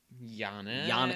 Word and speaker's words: Giannis: obviously led by i believe he's one mvp giannis that is how you pronounce his name and they play the bulls